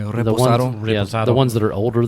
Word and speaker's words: reposado: Is that how you pronounce that? Yeah. Reposado.